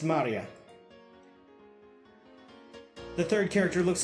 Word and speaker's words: Maria: Her name is written, of course, is pronounced Maria.